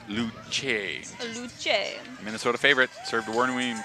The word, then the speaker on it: Luce: Pronounced Luce.